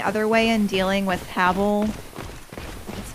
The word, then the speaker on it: Havel: Yeah, I tried going the other way and dealing with Havel.